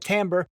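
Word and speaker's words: timbre: the sound quality we call it the tamber it's a French word it's probably pronounced tomra but we call it tamber and most people call it timber because it looks like Timber so this is Hinrich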